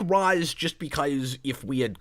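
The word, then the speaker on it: Ra's: of animated series and it was apparently supposed to be pronounced Roz in the first place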